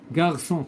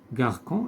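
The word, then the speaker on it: garçon: غارسون كذلك بحال كلاصون. غارسون الا درنا هكا تنطق غاركون، اذا حنا بغيناها غارسون نديرو سي سي دي.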